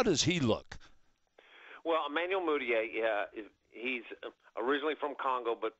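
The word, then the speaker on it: Mudiay: eye test now um Emmanuel how do you pronounce his last name moodier moodier moodier now he chose to go to China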